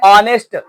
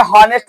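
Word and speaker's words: honest: आउल, आयन एमे, आयन ऑनेस्ट, इस तरीके से। यहाँ पर एच समझ के हॉनेस्ट न समझ जाना, ये ऑनेस्ट है, ये एच जो है साइलेंट में है।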